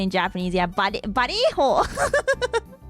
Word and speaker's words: Vallejo: The double L is a Y. Oh, Vallejo.